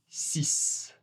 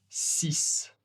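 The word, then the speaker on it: six: Celui-ci, ensuite, le X est un peu prononcé comme un S très long. 6. 6. Très long.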